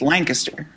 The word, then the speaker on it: Lancaster: yeah that's that's true yeah but the correct pronunciation is Lancaster yeah yeah yeah only if you're from there